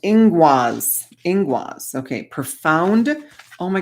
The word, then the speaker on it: Ingwaz: Ingoose, pronounced ingwaz.